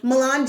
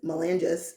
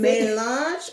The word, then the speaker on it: Melange: Everybody goes, Melange, and I was like, that probably was me. I know. That probably was me. Like, Melange. Like, if I say it like that, it sounds well, you can say Melange, okay. or my favorite is Melanges. And I'm like, no. I think I did say that the first time.